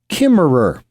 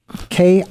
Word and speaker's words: Kimmerer: Her name is Robin Wall Kimmerer, Kimmerer.